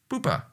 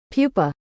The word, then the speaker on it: pupa: doing the butterfly run the crystal stage of butterfly development is called poopa kind of weird though that the AI voice mispronounces it Pupa Pupa well that's kind of